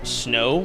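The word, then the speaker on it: Snoh: a female content creator I believe pronounced snow but it's s n o h and they're all extremely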